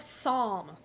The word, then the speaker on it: Psalm: Love Psalm. Psalm. Psalm. Don't pronounce the P.